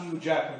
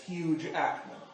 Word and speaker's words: Hugh Jackman: Hugh Jackman was, and that is the proper way to say it. It's not Hugh Jackman, it's Hugh Jackman.